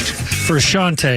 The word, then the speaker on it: Frusciante: Frusciante is how you pronounce it.